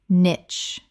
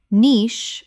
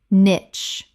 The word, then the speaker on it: niche: subtle subtle Word 98 niche common mispronunciation nitch correct pronunciation niche British or nitch both are accepted, but niche is standard in British English.